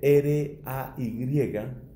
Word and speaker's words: Ray: Se escribe R-A-Y.